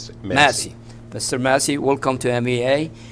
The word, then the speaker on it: Massey: Casey. Massey.